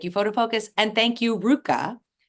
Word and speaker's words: RVCA: Thank you, FotoFocus, and thank you, RVCA. Don't be fooled that it is spelled RVCA if you are not in the skate world. That could throw you for a loop. But thank you also, RVCA, for your support of